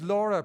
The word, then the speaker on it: Laura: And now we are going to virtually beckon our other guest speaker, whose name is Laura, pronounced in the Irish way, I'm happy to say.